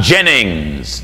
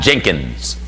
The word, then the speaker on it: Jennings: my last name right I'm Jennings not Jenkins Gino Jennings not Jenkins